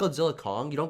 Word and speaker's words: Godzilla x Kong: It's apparently called Godzilla Kong. The X is silent, apparently.